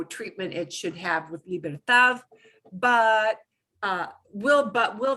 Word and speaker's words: libertad: the stress right away if you pronounce that last word libertad as libertad will somebody understand you well they will but you're going to sound an accident it's a gringo thing